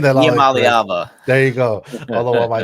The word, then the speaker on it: Iamaleava: Nico I'm pronouncing I'm saying that Iamaleava.